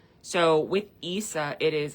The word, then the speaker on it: Isa: And it's pronounced Isa, but it's spelled Isa, but it's Issa. So, with Issa, it is like I said, ice, and ice can be looked at so many different ways.